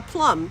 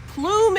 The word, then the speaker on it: Plum: and the code is going to be uh plum p-l-u-m as in the way every English teacher throughout my entire grade school in high school has mispronounced my last name and the thing is is it's literally a word plume is a word how do you go Plum I'm like you're the